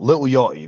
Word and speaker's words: Lil Yachty: There's a rapper called Lil Yachty, and I have to I've it's tough for me being Scottish because I have to either commit to pronouncing the T or or not. Lil Yachty.